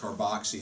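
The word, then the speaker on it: COOH: months in the carboxy, written C-O-O-H. It's pronounced carboxy, and that's the inactive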